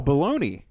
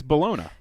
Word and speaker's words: bologna: for lunch I Oh baloney no I say it because that's how the plebs say it it's Bologna have you been to Italy yes that's the Italian pronunciation you Americanized Bologna that's